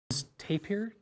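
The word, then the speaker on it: tapir: come from South America pronunciation tap here t a p i r they're about that high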